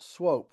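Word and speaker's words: Swoope: I don't know what the background of that is, but normally two O's are oo, as you know, but in this case, the two O's are a long O.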